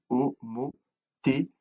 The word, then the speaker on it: homothétie: Et ça se lit homothétie. Le T se prononce S, d'accord?